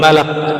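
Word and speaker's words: ملك: Alamul Malak. Jadi yang pas bacanya malak ya.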